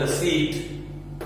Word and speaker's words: receipt: ऐसे ही एक बिजनेस के लिए any type of payment for द रिसीट ऑफ a benefit, ये पी साइलेंट रहता है, रिसीट ऑफ a benefit is termed as expenditure.